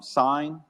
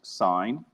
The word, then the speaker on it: sine: tan is tan so a lot of people want to call this sin but it's not sin sin is an abbreviation for sine it's one letter abbreviation